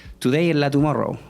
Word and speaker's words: Today en la Tumorrou: It should be like that, how we pronounce it, right? Or should we go like Today in La Tomorrow? Today in La Tumorrou. Yeah, Today in La Tumorrou, right? Yeah, that's the way it should work.